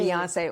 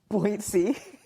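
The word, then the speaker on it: Beyoncé: Beyonce or as your pop calls her what? Buoy. Buoyancy cuz he doesn't say her name right. Buoy.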